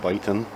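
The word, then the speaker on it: Viton: different too that gasket's i think it's pronounced bitin v-i-t-o-n anyway i might be mispronouncing it but i think it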